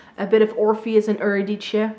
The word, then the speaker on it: Eurydice: bit of Orpheus and Eurydice. Is that how you pronounce her name in English? I don't know. In Dutch we would say Eurydice.